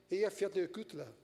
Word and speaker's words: Eyjafjallajökull: Depois de muito treinar com Bigger, se pronuncia Eyjafjallajökull.